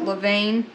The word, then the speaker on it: levain: And you want your starter, I think they call it, they pronounce it levain, to float.